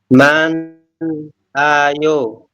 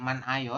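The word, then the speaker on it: 많아요: Jadi bukan man ayo tapi lebih ke manayo.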